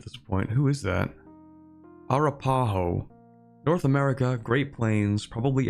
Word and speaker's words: Arapaho: Arapaho, they have the Plains native ideas. It's Arapaho. Okay. I put the emphasis on the wrong syllable, my bad.